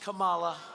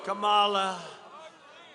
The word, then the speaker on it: Kamala: Kamala. Kamala.